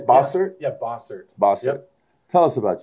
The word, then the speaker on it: Bossert: Did I pronounce that right? It's Bossert? Yeah, Bossert.